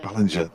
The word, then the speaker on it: Ballinger: Ballinger. No, I knew I'd get it right. I'm going to put it's a soft G. The soft G.